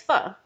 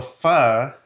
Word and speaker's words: pho: of Vietnamese food is pho. Yeah. So I'm really excited for today. Sweet. How do you pronounce it? So pho, phonetically, would be spelled F-U-H.